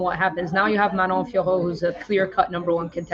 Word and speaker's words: Manon Fiorot: Manon Fiorot.